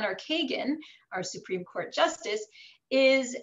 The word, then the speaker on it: Kagan: version of kohen and Kagan or Kagan our Supreme Court Justice is a russianized version of that because again they didn't have the H sound in Russian so they pronounced that as a g and of course names